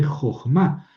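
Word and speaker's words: חָכְמָה: Y aquí el acento cae acá en ma jo entonces esta es una sílaba cerrada, no asentada. Por eso el kamet es hartuf y se lee jojmá.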